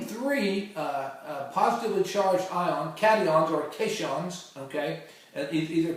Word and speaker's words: cation: a positively charged ion is called a cadon c a t i o n so uh you can remember that because uh positive charged ions are called catons okay uh in in in a in a